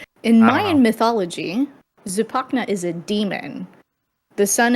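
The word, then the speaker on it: Zipacna: hear what saidia s that's how you pronounce it okay zupac Tupac right in the middle in my mythology zupak is a demon the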